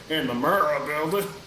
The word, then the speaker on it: Murrah: It's Murrell, right, Jamie, or Murrell? I think it's Murrah. Murrah. Murrah. Yeah, that sounds right.